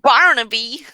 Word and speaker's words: Barnaby: One of them is Barnaby, which is spelled how it sounds. Barnaby.